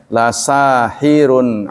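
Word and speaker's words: لَسَاحِرٌ: hadza sungguh ini ya La yang ada di kata Sahir dibacanya pendek tidak boleh la Sahir tidak boleh kalau dibaca la Sahir itu bertentangan dengan pengertian pendek baca panjang Bukan Sihir kalau dibaca panjang la Sahir jadi bacanya pendek lasahirun Alim artinya justru sungguh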